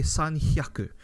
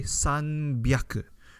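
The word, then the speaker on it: 三百: So in Japanese reading, when things like this happen, you don't say sanhyaku, you say sanbyaku, right? The reading becomes sanbyaku, right? It becomes a B.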